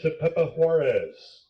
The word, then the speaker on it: Tepepa-Juarez: Next up, 13, Jonathan Tepepa Juarez. Tepepa Juarez. That one you want to practice before the game starts. It is spelled exactly the way you would say it.